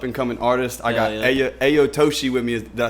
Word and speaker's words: Ayato-Shi: a local up and cominging artist I got Aya aoshi with me did I say it right yeah